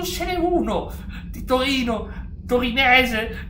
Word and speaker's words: torinese: Non ce n'è uno di Torino, torinese, con l'accento sulla E che tifa.